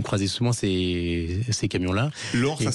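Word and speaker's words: Lohr: Je voulais dire quelques mots sur Robert Lore, le fondateur d'une très belle entreprise alsacienne qui vient de nous quitter, avec qui vous travaillez avec Station E.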